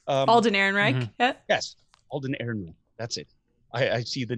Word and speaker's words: Alden Ehrenreich: Yes, Alden Ehrenreich.